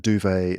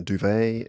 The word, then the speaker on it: duvet: We've got like a duvet and a duvet, a garage and a garage, Huh. um, Yes, ma- garage for sure. And mass duvet. massage and massage. Massage in American English, we say massage. So those ones are clearly different.